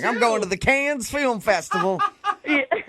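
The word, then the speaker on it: Cannes: Can I ask is it con or is it the can film festival?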